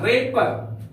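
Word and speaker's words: wrapper: आर इसका उच्चारण होगा रे पर यहां पर डब्लू का उच्चारण नहीं होगा डब्लू यहां पर साइलेंट है रेपर का अर्थ होता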